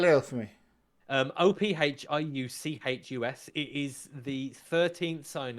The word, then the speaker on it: Ophiuchus: So there's one called I was going to try and pronounce it Ophiuchus. Spell it out for me. Ophiuchus.